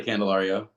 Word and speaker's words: Candelario: say your last name again you could say candelario candelario I I told you I had it